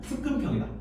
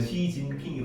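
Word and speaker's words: 習近平: 소 무슨 평인데 소 습근평이다 습근평 한자를 그 중고를이 시즌이야 습근평 습근평 있니다 자 어 한자 한자 한자로 우리나라 한자 발음을는게 습근평이고 그거를 중국어로 읽으면 시진핑이 발음이나 여기도 등소평을 한자로 읽으면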